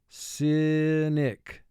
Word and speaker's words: cynic: First syllable, si, 2 sounds. S, I. Nick, 3 sounds. N, I, k. Cynic. Mark the word. Cynic. We underline the 2 under Y because we have a vowel at the end of the syllable. Vowel group 2 indicates it will make its long sound, but we have an exception occurring here, and Y is representing the short I sound.